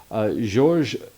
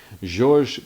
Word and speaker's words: Georges: Back in 2019, Breitling's CEO at the time, Georges Kern, did a top, and of course, you know, I would normally just say George, but since he's French, Georges Kern, and I'm probably still mispronouncing that, he really did